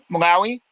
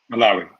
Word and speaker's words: Malawi: Am I pronouncing that correctly? Malawi. Malawi.